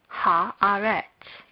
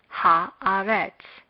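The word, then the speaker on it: הארץ: Haaretz. Haaretz.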